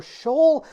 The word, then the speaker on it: S.H.E.O.L.: what this means but I will be pronouncing it Shoal this entire video if anybody wants to know their if that's the two different pronunciations I found I'm excited to get